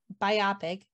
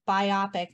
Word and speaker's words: biopic: Using the compound stress rule, the word is pronounced biopic, not biopic.